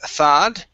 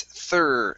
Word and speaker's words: third: the the numbers okay instead of thad it's third third there you go good and